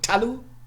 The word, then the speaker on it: talu: Ta-lu, all right? It's an open syllable. So the first syllable is open, okay? Ta-lu. It's not tal-u or something like that, yeah?